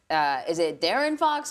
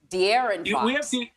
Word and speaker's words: De'Aaron Fox: Okay, so forgive me because I'm probably going to mispronounce this player's name, but is it Darren Fox or De'Aaron Fox? De'Aaron Fox. There you go.